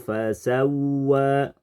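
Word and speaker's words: فسوى: telah melakukan kesalahan kfi contoh harusnya fasawa fasawa kata fasawa dibaca tanpa guna alladzi khalaqo fasawa kemudian kita merubahnya jadi guna alladzi khalaqo fasawwa Apabila terjadi seperti ini kesalahan praktik membaca guna yang harusnya tanpa guna tapi dibaca guna maka kita dianggap telah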